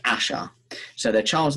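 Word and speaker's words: Æ: now the a the ae is pronounced asha so their child's name is x asher12 is that pronounced ash sorry so it's ash 12 x asher 12.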